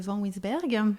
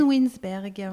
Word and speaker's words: Van Wynsberghe: C'est une origine flamande. C'est le nom de mon mari, en fait, que j'ai pris en l'épousant, tout simplement. Alors, redis-le encore une fois, s'il te plaît. Van Winsberg.